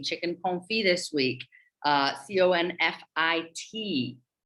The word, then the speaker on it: confit: confit this week uh c-o-n-f-i-t pronounced confit is the term that comes from uh the french language like we know so